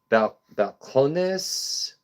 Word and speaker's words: Balcones: We've had some balconies, balcones, balcones, emphasis on syllables.